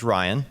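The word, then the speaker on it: Rion: And he's got a new girlfriend named Ryan. It's spelled R I O N.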